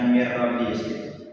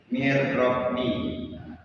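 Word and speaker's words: من ربي: Jadi bacanya mirrabi seolah-olah nun matinya itu tidak kebaca. Bacanya itu mirrabi. Jadi anggap aja nunnya nun matinya itu enggak ada. Kita baca rnya aja tapi dengan berdengung.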